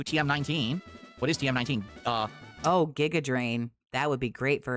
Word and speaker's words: Giga Drain: Giga like Gigabyte? Oh, okay, so it's Giga Drain.